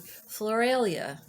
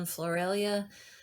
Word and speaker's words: Floralia: we are in flor not sure how you pronounce this exactly floralia i think is how it's pronounced it was an ancient